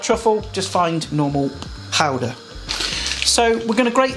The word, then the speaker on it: Gouda: And I've got some gouda or gouda, or if you want to pronounce it properly, it's gouda.